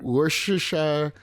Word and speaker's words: Worcestershire: I still can't pronounce that word. Worcester. Worcestershire. Worcestershire sauce. Worcestershire. Worcestershire.